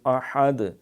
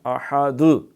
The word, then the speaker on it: احد: نہیں کہا، هو اللہ احد، یہ دال پہ قلقلہ کرنا ہے، احد، بعض کرتے ہیں پڑھتے